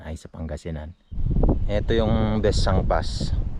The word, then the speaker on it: Besang Pass: sa Pangasinan Oo yung besang pass actually hindi siya besang pass besang pass ang pronunciation nila Tapos Dito naman ung